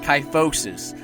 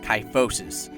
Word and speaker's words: kyphosis: by the way that's the name of it ty focuses I was saying it wrong in all the previous videos but I'm finally saying it right now tight focus alright that's all I got to say thank